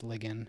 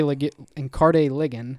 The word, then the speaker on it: Ligon: And you have a guy in, I think I said Ligon. I think it's Ligon is how it's pronounced. And Carde Ligon is, I think, how we're going to pronounce it.